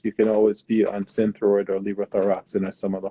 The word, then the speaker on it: Synthroid: In terms of treatment, is there anything more that someone can do other than being on Synthroid? Is that how you say it? Synthroid.